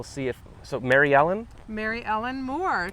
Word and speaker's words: Mary Elin Moore: Mary Elin Moore, kind of like Mary Tyler Moore, but Right. Mary Elin Moore.